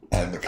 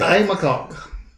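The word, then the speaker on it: Aodh MacCog: I. McCog. I. McCog.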